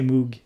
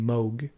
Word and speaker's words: Moog: funny people are like it's the same with the mug and Moog it's you know in Sweden people say Moog it's I haven't seen I don't think ever met a Swede saying mogh and whether or not